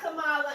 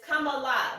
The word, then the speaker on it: Kamala: It's not Kamala, and there have been reports. It's Kamala because it's Indian.